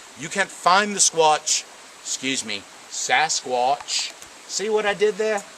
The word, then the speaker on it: Sasquatch: Please, Sasquatch. Sasquatch. 2 syllables.